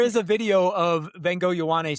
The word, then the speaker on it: Ioane: So it's Vega Ioane is how you say his name, according to him.